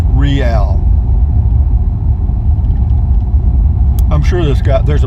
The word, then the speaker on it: Real: we're getting into the real Count II line it's spelled Rea L like real but it up here it's pronounced rial I'm sure this guy there's a place I'm